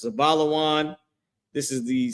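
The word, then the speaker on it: זבולון: In Hebrew, their name is pronounced Zabalawan.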